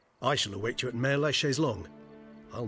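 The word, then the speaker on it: Mère-Lachaise: Mare la Chaise-Longue. Looks like I was pronouncing it right all this time.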